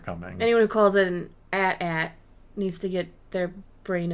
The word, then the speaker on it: AT-AT: it's not my fault I do not call it Adat it's an atat it is an AT-AT